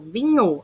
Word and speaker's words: vinho: Eu não vou falar vin, NH, vin, NHU. Não, vinho. Ele tem um único som.